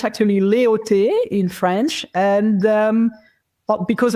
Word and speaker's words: Leautey: Uh, it's actually leote in French and um because I was living abroad since the age of 20.